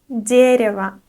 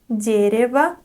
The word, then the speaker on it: дерево: The next word is дерево, дерево. Again, we have the unstressed O at the end, and we pronounce it like a, дерево, дерево, and we memorize that this word is neuter.